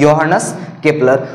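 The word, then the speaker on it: Johannes Kepler: Okay, ये जो इसको स्पेलिंग इसके जे से शुरू हो रही है, मगर उसको क्या पढ़ना है? योहानस केपलर।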